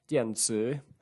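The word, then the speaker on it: 电子: One third example, now this is it's a bilingual dictionary, so we have the Chinese word, which in Putonghua is pronounced dianzi, meaning electron, but straight away it launches out into a list of different terms, all under this same head word.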